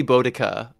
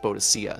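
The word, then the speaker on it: Boudica: who burned down London it's supposed to be bodaka but it was but it was in the Medieval Era it was mistranslated a couple of times and thus pronounced bodacia so there's there's a couple different versions of it um quite like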